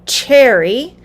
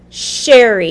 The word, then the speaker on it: Cheri: times people will say cherry with the ch sound specifically many of my latino friends will say cherry but my name starts with the sh sound sh sherry even though it's spelled with ch yes alex we're going